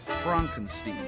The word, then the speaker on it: Frankenstein: That's Frankenstein. My name. It's pronounced Frankenstein.